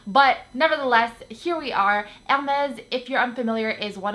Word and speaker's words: Hermès: my videos is a French friend Hermes or Herms or Hermes her herbs I don't know there's lots of different ways that people pronounce it there is no wrong way but